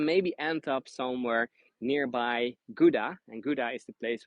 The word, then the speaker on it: Gouda: So I'm from the cheese city, Gouda, or in Dutch we say Gouda, because the G is completely pronounced differently.